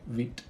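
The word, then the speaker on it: Vite: I read the documentation where they specifically say wheat oh I see playwright's MS project yep just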